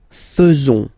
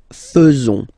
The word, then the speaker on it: faisons: So it's quite strange because French people tend to pronounce faisons. Okay? So like here, this AE is not pronounced like normally we should pronounce it like E, but then like E. Okay? Nous faisons.